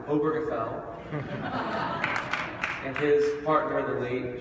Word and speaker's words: Obergefell: thanks to my friend jim oberfeld that's how you pronounce it obergefell and his partner the